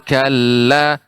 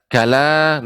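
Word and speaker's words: كلّا: semakalah ibu akan tapi ada tasydid pada lam Summa Kalla Kalla di sini ada adanya tasydid Kalla tidak kalah demikian sekali lagi Ibu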